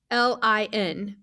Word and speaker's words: Lublin: But it's Lublin. So that's right. Lublin.